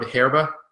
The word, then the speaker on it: Hierba: This is from Raul Peron, called Hierba, I guess. I don't know. I can't pronounce Spanish. I know number one that H isn't pronounced as an H, but fuck it.